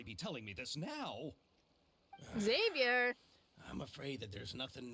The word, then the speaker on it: Xavier: Xavier. Okay, I guess I was pronouncing his name wrong the whole time.